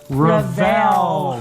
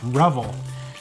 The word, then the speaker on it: Revell: We just found out too, because we've been pronouncing it Revell, and people sometimes pronounce it. And Jim Keeler, who used to work for him, called us up and he says, it's Revell, not Revell.